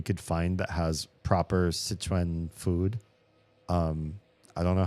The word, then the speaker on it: Sichuan: Szechuan? Szechuan? Does that sound right? Szechuan? Whatever that. It's the place with 4 rivers, which is why it's called Sichuan. To me, it's hard for me to pronounce it the American way.